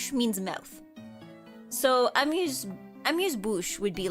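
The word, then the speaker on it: amuse-bouche: Well, it is pronounced amuse bouch according to Google.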